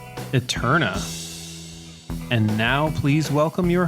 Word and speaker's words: Æterna: You're listening to the Current Plays podcast, season 3, episode 4, Eterna. And now, please welcome your hosts, Jordan and Thomas. And welcome back, magnificent listeners. This week we're talking Eterna.